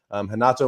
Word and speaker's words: Renato: If you see any names that start with R's, a lot of them will be pronounced with a H. They're Brazilian, and that's just kind of how it goes.